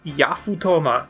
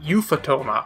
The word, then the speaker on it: Yafutoma: the spelling right there it's yafutoma not euphotoma i'm pretty sure i